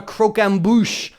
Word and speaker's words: croquembouche: together with caramelized sugar and it's called a croquembouche cro quem bo u CH e extra points